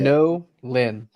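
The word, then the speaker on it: Nolin: Nolan. 2 separate syllables. Yep. So it's 2 different words all into one word.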